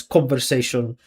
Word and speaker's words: conversation: I mean, I can tell that con and say is the stress. Conversation.